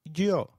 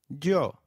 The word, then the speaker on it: yo: noos and no SAS the Y is pronounced like the English Y in some areas sounding just as it would in English while in others it